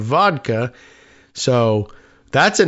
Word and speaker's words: Woodka: Chris Woodka said it's W O D Ka, which sounds like the Russian pronunciation of vodka.